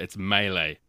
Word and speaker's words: melee: around melee melee melee I don't know but it's melee it's a French word but we've adopted it